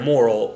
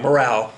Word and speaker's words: morale: bombed constantly constantly constantly it was to inspire moral uh inspire morale well gotta put the right syllable right ascent on the right saliva it